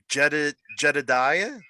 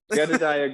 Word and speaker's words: Jedidiah: It's always interesting to see how people pronounce it. So Jedidiah? nailed it, man. You nailed it. Wait, really? Yeah. Anyhow, okay. Jedidiah Goodacre.